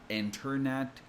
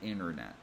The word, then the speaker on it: internet: T after N is usually silent in American English. You can still pronounce it, and obviously, people will understand you. We're not that stupid, but it's very common to drop the T sound. That's why instead of saying internet, we usually say internet.